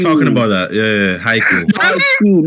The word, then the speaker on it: Haikyuu: Haikyuu, not Haku.